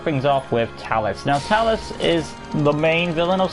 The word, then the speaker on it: Talis: it's like her appearance it's pronounced talus t-a-l-i-s so if anybody who